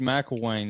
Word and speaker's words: McElwain: back uh well anyway today we've got M Wayne is that did I say your last name